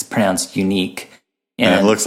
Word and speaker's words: UniK: nourish tool out there called it's called it's pronounced unique it spelled out I said I've totally just